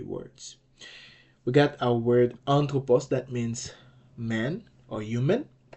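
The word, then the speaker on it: ἄνθρωπος: you can see here that's why I said anthropos because an is the accented syllable but on top okay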